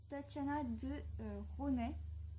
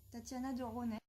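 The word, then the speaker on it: Tatiana de Rosnay: s'agit de boomerang de Tatiana de Ronet je crois que ça se prononce comme ça je crois qu'on prononce pas le S Tatiana de Ronet donc c'est une découverte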